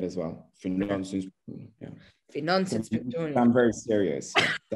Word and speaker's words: Finansinspektionen: Finansinspektionen. Oh my Finansinspektionen. Gosh. Finansinspektionen. You need to say it at sort of, you need to, you know, go down when you say it as well. Finansinspektionen.